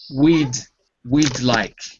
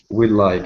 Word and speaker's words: we'd like: And be careful with the D, because we need to really hear it. We'd like. We'd like. If it's easier, you can put the D connected to the like. We'd like. We'd like. Yeah, that's it. Because if you say it fast, it'll sound natural.